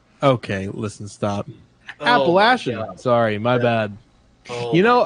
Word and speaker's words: Appalachian: are you from Tennessee I am and you pronounce it appellation okay listen stop Appalachian sorry my bad you know okay actually I